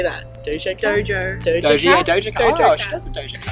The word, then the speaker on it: Doja Cat: Doja cat?